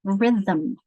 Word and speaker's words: rhythm: How many syllables in rhythm? Rhythm. There are 2 syllables, aren't there? Ism is 2 syllables. So this M is what's called a syllabic consonant here.